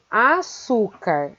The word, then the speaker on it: açúcar: O mesmo acontece com açúcar. Açúcar. Açúcar termina com a letra R Por isso, a sílaba tônica su deve receber o acento agudo.